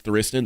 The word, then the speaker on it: Thriston: I asked Rob, I was like, do you think they wanted to go with Tristan and they were like trying to be cute, but it is Thriston? That's how he pronounces it? Yeah, it's Oh, Thriston.